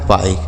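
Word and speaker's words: bike: देखिए कैसे, जैसे बी से हो गया बा, आई का उच्चारण क्या होगा? आई। तो हो गया बाई, और के से क लिखा है बाइक।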